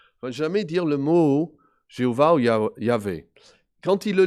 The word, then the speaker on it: Jéhovah: Ça donne un mot comme Yahovah, ou historiquement on a dit Jéhovah, surtout en français. Donc la prononciation, en fait, de Jéhovah vient de cela. C'est les consonnes de ce mot, traduit éternel, avec les voyelles du mot pour Seigneur, Adonai.